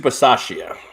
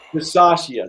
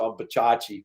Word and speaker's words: Bisaccia: Rich Bisaccia. Bisaccia, there you go. I was going to say Bachachi, but that's good too.